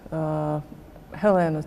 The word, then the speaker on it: Helēna: How did this collaboration come about, and have you known Helēnas Celmiņas for a long time? And How do you pronounce her first name?